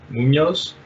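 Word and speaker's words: Muñoz: how do you transmit is it an NEA is an NEA Munoz does it yeah boom yes okay so he's got the N yay yes okay cool cool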